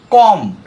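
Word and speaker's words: comb: silent letter be যেমন কম সিওম কম আমরা বি উচ্চারণ করব না ডাউট ডাউট কোন ডাউট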